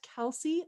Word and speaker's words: Kellsie: the car constantly completely understand uh so it's kelsey underscore more my first name is spelled funny it's k-e-l-l-s-i-e so kelsey underscore more